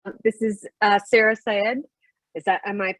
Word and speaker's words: Sarah Syed: This is Sarah Syed. Am I pronouncing that correctly, Sarah?